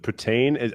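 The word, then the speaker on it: poutine: what Putin is oh I think we pronounce it Putin are you talking about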